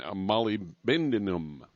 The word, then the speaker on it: molybdenum: And then there's selenium, and then copper, manganese, chromium, and molybdenum. Molybdenum. There. That's the right way to say it.